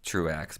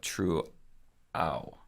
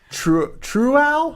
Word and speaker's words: Truex: He says Truex is not pronounced Truex, but True-ow. I refuse. true. I refuse. If there's an X, I'm saying it. True-ow?